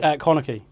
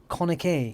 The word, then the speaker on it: Connachie: How do you pronounce your second name, by the way? Is it Connachie. Connachie.